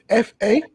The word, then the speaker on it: fa: The headdress is called a fa, F-A, pronounced fa.